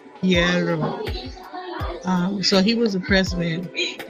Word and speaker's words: Guerrero: Guerrero.